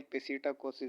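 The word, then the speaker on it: psittacosis: उसको हम कहते हैं सिटिकोसिस। सिटाकोसिस आप प्रोनाउंसिएशन जिस तरह आपकी होती है उस तरह आप कर सकते हैं। सिटाकोसिस भी इसको पढ़ते हैं, पेसिटाकोसिस भी इसको पढ़ते हैं। अपनी अपनी प्रोनाउंसिएशन होती है।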